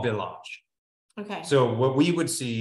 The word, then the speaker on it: village: It's spelled exactly like village. Okay. All right. But it's not. It's village.